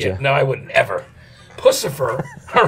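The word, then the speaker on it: Puscifer: Hey, talk to me about Pussifer, because that's the right pronunciation always, right?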